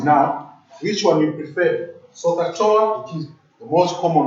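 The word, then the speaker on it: SOHCAHTOA: Okay, which is pronounced, okay, when people say it, it's called Sokatoa.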